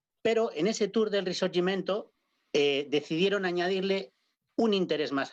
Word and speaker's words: Risorgimento: Le llaman el Giro del Risorgimento. Capri, tú me corregirás la pronunciación. Más o menos está bien. El Giro del Risorgimento.